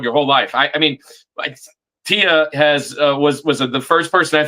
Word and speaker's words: Tia: It's pronounced it's pronounced Tia.